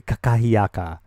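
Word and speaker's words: kakahiaka: And she was like, it's aloha nakakahiyaka. It's actually kakahiyaka, but I was like, what?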